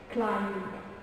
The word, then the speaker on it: climb: B is not pronounced when following an M at the end of a word.